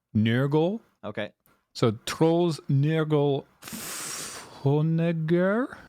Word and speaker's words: Nørgaard: Specifically, it's spelled Nørgaard, but it's pronounced like Nørgaard.